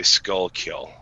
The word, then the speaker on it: Schuylkill: It's actually Skullkill.